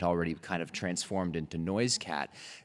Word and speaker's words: Noisecat: it actually only became Noisecat because the missionaries wrote it down wrong. Um, so it's actually properly pronounced, I guess. Noiskit would be the way that the ancestral name was was said.